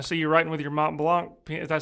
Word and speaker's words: Mont Blanc: and its company, and they pronounce it. It's a German. A lot of people think it's French, but it's German. Mont Blanc.